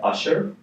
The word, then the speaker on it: Ushur: I'm the founder and CEO of a startup called Usher. It's spelled USHUR. It's not the R&B singer Usher.